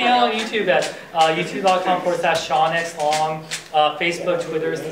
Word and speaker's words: Sean: they spell it differently It's s e a not it's not scen it's Shan and it's not spelled s ha u n or whatever it's like Shan connory or pen that's who